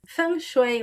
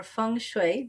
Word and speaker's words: feng shui: Well, you know, um, fun um, funue or funue, there's different ways to pronounce it, is the ancient East